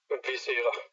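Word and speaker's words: Viscera: Give us that album title with your pronunciation one more time. Visera.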